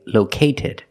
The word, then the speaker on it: located: located we cannot say located first we have to move the stress to the first syllable low located and an